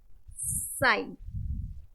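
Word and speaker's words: sign: साइन, क्या है ये? साइन। जी साइलेंट है, क्या है ये?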